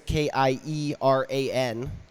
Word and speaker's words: Kieran: Kieran is Kieran. Yeah. I'm saying your name right, correct? Yeah, you're pronouncing okay, good.